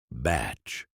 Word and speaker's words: bach: Pronounced and sometimes spelled. Batch.